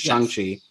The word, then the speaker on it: Shang-Chi: Keeping things Marvel, we can just talk briefly about the Shang-Chi, as you inform me of the correct pronunciation, or at least the way Kevin Feige says it, which is Shang-Chi.